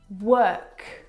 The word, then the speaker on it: work: The vowel sound is actually as in her. Work, world, word, this is your eyes playing tricks on you.